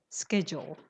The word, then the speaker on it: schedule: only have delays yes the pronunciation is schedule don't say SCA it's SK schedule hello yes uhhuh go